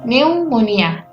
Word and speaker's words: pneumonia: tulisan kayak gini ya PN itu pin-nya nggak usah dibaca jadi langsung Newmont ia bukan pneumonia sama kayak hai eh